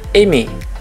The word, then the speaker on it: aimer: Nah, tulisannya kan aimer. Nah, tapi di sana bacanya aimer. Ya, untuk semua kata kerja yang berakhiran dengan er semua dibaca dengan e ya. Er-nya itu diganti dengan e.